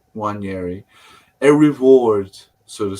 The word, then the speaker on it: Nwaneri: Ethan, and how do you pronounce it, Ryan? Nwaneri. Nwaneri.